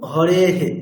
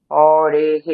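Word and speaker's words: হরেঃ: আর কি পড়ে আছে একার ধরুন হরে হে একার আছে হরে তারপরে বিসর্গ আছে উচ্চারণটা কেমন হবে হরে হে হরে হে হে না হরে হে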